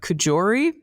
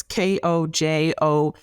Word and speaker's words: Kojouri: And there was also some findings by, I'm not sure the pronunciation, but Kojori, I believe is the pronunciation, but I may totally be wrong. It's Kojouri.